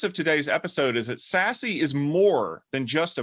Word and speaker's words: SASE: probably heard of it secure access service edge pronounced sassy what is it is